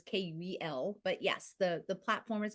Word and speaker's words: Kuel: It is spelled a little weird, right? It's spelled with a K, so it's Kuel.